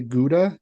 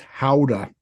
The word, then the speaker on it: Gouda: when I found out we say Gouda completely incorrectly. How do you say it? It's Howda. Mm-hmm. How to? Howda. Mm-hmm. How the And fuck did they get that? it's Dutch.